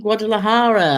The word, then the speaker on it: Guadalajara: Greetings from Guadalajara.